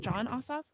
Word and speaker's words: Ossoff: John Ossoff? Yeah. John Ossoff.